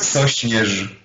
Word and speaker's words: Sośnierz: I hope you pronounce his name. It's Sośnierz.